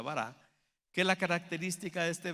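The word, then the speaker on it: ברא: hebreo que se llama bará, o se pronuncia bará, que la característica de este verbo es que quiere decir crear de la nada.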